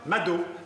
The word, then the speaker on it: Mado: D'accord, Mado, comme McDo.